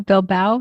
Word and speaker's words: Bilbao: The shortest is 10.8 kilometers, and that is actually the day that I'll get into Bilbao. Am I saying it right? I think so. Bilbao, yes.